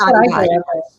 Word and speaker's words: Adidas: Adidas. You pronounce it. It is pronounced Adidas.